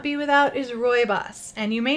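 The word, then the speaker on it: Rooibos: one that I would not be without is robust and you may not recognize it based on how I'm pronouncing it it is the South African tea it is pronounced robust but it is spelled Roo IBOs it is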